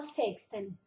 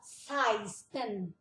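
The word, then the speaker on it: seksten: O 16 aqui, ele se escreve sexten, mas a gente não fala sexten, a gente fala seisten.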